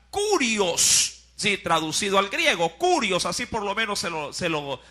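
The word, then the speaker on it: κύριος: griego que significa kurios, sí, traducido al griego, kurios, así por lo menos se lo pronuncia.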